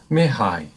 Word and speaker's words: Mihai: And Mihai, did I say that right again?